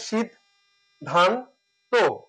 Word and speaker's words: সিদ্ধান্ত: ধান তকার হতো যদি শীদ এখানে একসাথে উচ্চারণ করি ধান একসাথে করি তটা আলাদা করি শীদ ধান ত সঠিক উচ্চারণ হচ্ছে শীদ ধান ত কিন্তু এখানে উচ্চারণটা লেখা